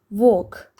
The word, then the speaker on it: walk: Walk, walk, L is silent.